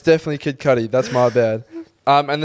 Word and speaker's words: Kid Cudi: kid cuddy too but what did i say kid cootie did i yeah oh yeah it's definitely sorry